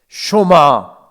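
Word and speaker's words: שְׁמַע: 흔히 우리가 쉐마 이렇게 합니다만은 정확한 발음은 쇼마입니다. 쇼마 이스라엘, 들으라라고 하는 뜻이 바로 쇼마라고 하는 뜻입니다.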